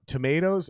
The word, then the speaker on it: tomatoes: read the pronunciation key, it has two ways to pronunciate the word correctly. One with the line over the O and one without it. Yep. Tomatoes and tomatoes. So a short A and a long A.